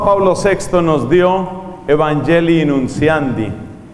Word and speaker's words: Nuntiandi: Esa otra reflexión se llamaba Evangelii, así con doble I, Nunciandi, que se escribe con T. Evangelii Nunciandi, se escribiría como Nuntiandi, lo leeríamos en castellano, sin atender a su origen en latín.